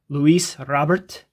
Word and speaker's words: Luis Robert: We're also, this is the first opportunity I will have pulling Luis Robert, which is how you say it.